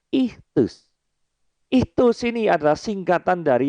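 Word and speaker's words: ΙΧΘΥΣ: Ini tulisannya bacanya ichthus.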